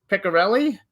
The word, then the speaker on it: Piccarelli: It's Hollywood Godfather, My Life in the Movies in the Mob, by Gianni Russo with Patrick Piccarelli. Is that how we pronounce it?